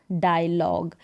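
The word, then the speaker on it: dialogue: डायलॉग क्या हो गया डायलॉग यहां पर जी तक ही साउंड सुने दे रहा है यू और आई का नहीं ए रहा है डायलॉग तो ग साथ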